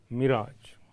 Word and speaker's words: mirage: अब यहाँ जिस वर्ड का लेखिका ने प्रयोग किया है वह है मिराज। मिराज, जेड प्रोनाउंसिएशन है इसका।